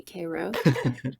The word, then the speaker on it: Cairo: town called kro Georgia spelled like Cairo Egypt but they definitely say Koo of the surup makers